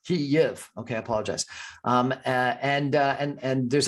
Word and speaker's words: Kyiv: Kyiv. It's Ukrainian way, and it's only right way because it's Ukrainian city and it should sound Kyiv. Kyiv.